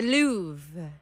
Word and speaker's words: Louvre: The Louvre. Oh my God, you got it right! Yay! Now, in the pronunciation here, it is saying Louvre.